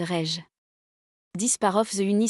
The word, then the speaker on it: rayon: Ans, a word such as comment is pronounced kma and rayon is pronounced rej.